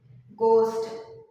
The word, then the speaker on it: ghost: that G okay um after the g h is also silent ghost Jin Bo look at okay so you can see G here and H is silent the word is Ghost g o s t